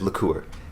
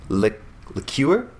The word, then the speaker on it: liqueur: what else is it look is liquor and then there's liqueur lick the Cure how do you guys